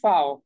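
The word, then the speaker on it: Vau: সেগুলোর ক্ষেত্রে হচ্ছে আপনি ফাও হ্যাঁ তো ফাও কে বলে হচ্ছে কি ভি হ্যাঁ ইংলিশে আমরা বলি হচ্ছে ভি তারা বলে হচ্ছে ফাও এন্ড সেইম ভাবে দেখেন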